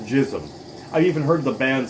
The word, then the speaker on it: GISM: jism okay it's it's gizmo gism it's it's pronounced jism i've even heard the band say that it's